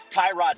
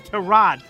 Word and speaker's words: Tyrod: As Baker Mayfield pointed out this week, it's Tyrod Taylor, not Tyrod Taylor, pal.